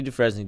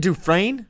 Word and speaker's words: Dufresne: Look, Andy Dufresne did it. El Chapo can do Isn't it Dufresne?